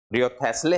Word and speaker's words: Wriothesley: है कि वो हेनरी रियोथेस्ले हो। रियोथेस्ले, WRIOTHESLEY, रियोथेस्ले, sorry Henry थेस्ले, Henry रियोथेस्ले, sorry Henry रियोथेस्ले, W silent है।